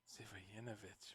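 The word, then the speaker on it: Živojinović: name adrian's last name my proper surname yeah yanovich wow everyone messes it up yes is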